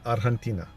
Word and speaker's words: Argentina: From there, we'll, or how the Latinos call it, Argentina. The G is silent.